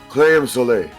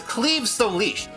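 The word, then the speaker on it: Claíomh Solais: Yes, in Gaelic myth, which is why the pronunciation makes no sense. It's how would you pronounce this, Kongo? Claim Soleil. Right, the actual name is Cleve Solish.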